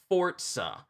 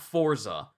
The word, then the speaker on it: Forza: the only series and that's how you properly pronounce it fortza not Forza but Forza is pretty